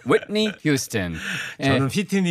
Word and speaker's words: Whitney: Whitney. 그래서 Whit 하고 이렇게 중 이렇게 한번 찔러주시고요. Whitney Houston.